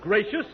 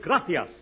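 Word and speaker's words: gracias: no no no not gracious that word is graas you see in Spanish the C is pronounced th look graas you see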